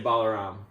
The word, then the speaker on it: Balaram: I mean, I honestly, it's hard to correct people because of how much it gets said in Yeah. different ways, but I say Balaram. Balaram. Yeah. Okay. Yeah. Balaram.